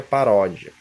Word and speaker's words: paródia: No caso aqui é paródia, ródia, essa sílaba mais forte, uma paroxítono, tá bom?